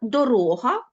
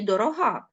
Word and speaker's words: дорога: рухомий в окремих випадках зміна місця наголосу змінює значення слова так дорога і дорога адже це абсолютно різні слова Наприклад дорога - це шлях а дорога - це мила серцю Так це взагалі прикметник